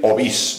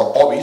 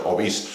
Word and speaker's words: Ovís: que en muchos casos se pronuncia llana, la palabra llana, el topónimo, pero es agudo. Lo correcto es decir Ovís, no Ovis, sino Ovís.